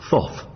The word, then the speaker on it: Thoth: Thoth. Thoth is right. Though it sounds as though he had a terrible lisp, doesn't it?